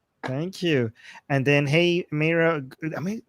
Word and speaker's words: Meira: And then, hey Mera, am I pronouncing it right?